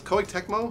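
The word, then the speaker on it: Koei Tecmo: Dark Souls how do you say this Lawrence Co techmo yeah you got it co Techo is publishing this right now exclusively for the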